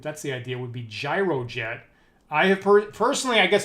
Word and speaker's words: Gyrojet: gun, and it's spelled GYROJET, right? So now we get to debate whether that's supposed to be gyrojet or gyrojet. So I guess it's like a gyroscope, if that's the idea, would be gyrojet.